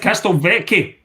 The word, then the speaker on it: Castelvecchi: Is it Castelvecchi? Well, that was my grandparents' name, and the Italian way to pronounce it is Castelvecchi because the C is pronounced that way.